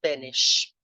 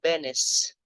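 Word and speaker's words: Beneš: porque nos vídeos passados eu pronunciei o nome do presidente tcheco como Benes, que é assim que se escreve, B-E-N-E-S, mas depois eu descobri que a pronúncia mais correta é Benes.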